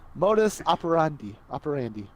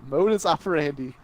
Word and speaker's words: modus operandi: Modus operandi. I think you're right. It's like operations and Andy. Modus operandi. We're gonna pretend that's how you pronounce it.